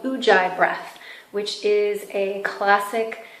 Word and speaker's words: Ujjayi: Pronounced Ujjayi, it means to be victorious.